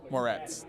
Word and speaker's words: Moretz: Moretz, that's how you say it.